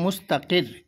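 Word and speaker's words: مستقر: আচ্ছা, এই যে মুস্তাকির, এই রটা পুর হবে না বারিক হবে? পুর।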